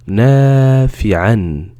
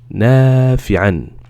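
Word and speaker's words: نَافِعًا: On va le prononcer N. N. D'accord? Donc, le son va être comme ça. Nafi'an. Nafi'an.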